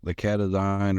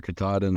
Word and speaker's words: Katahdin: Yeah, I was going to say, you made the point, the Catadine or Katahdin or however you pronounce that breed. I'm probably. I think it's Katahdin.